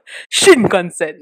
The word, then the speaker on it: Shinkansen: teacher this actually reminds me of the Japanese Shinkansen bullet train I don't know if I pronounced it right you learn Japanese Regin yeah Shinkansen that's right power there so as we know